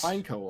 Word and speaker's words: Pineco: doesn't make sense yeah it's pineco obviously because obviously it's a pine cone so pine like the first syllable should be pine but pineapple sounds not